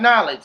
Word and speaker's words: knowledge: is now that's not knowledge knowledge knowledge got a silent k there they spell knowledge k n o w you know what I